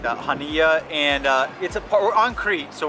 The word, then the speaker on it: Chania: I asked the local how to say it and it was like Hania or something like that, Hania, and we're on Crete, so we're on the